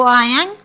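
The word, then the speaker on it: iron: टू आयरन clothes, और silent होगा इसमें आयरन बोलेंगे, टू आयरन क्लॉथ्स।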